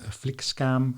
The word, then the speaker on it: flygskam: people to refuse traveling on planes it's called flick scam i'll pronounce that correctly as well basically flight shaming